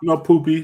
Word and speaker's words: Poppy: It's pronounced Poppy, but he plays like poop.